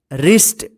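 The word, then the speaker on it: wrist: होगा जैसे यहां पे रिस्ट डब्लू आर आई एस टी रिस्ट रिस्ट का मतलब होता है कलाई देखिए यहां पे आर से पहले डब्लू आया है ना तो डब्लू साइलेंट रहेगा ठीक है रिंग देखिए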